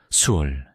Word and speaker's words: 스올: 구약 성경에서는 모든 죽은 자의 영혼이 가는 곳을 수올, 시올이라고 불렀습니다. 한번 발음해보세요.